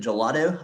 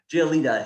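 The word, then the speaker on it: Giolito: Is it Gelato? I always want to call him Gelato. I know that's not his last name. Giolita.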